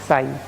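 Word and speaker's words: ψ: और ये है तुम्हारा साई, पी साइलेंट है, साई कहा जाता है।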